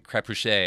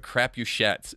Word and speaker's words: Crapuchettes: Because I was going to give you like this French pronunciation, Crapuchet, Right, or something like that. Yeah. But Crapuchettes.